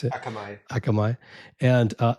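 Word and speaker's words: Akamai: Um, you'd already built a company that got acquired by um, Akami, Kami, however you want to pronounce it. Akamay.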